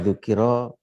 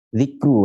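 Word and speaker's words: ذِكْرُ: Apa dzikro, apa dzikru, apa afwan dzakaru, atau apa? Zikru bacanya ini.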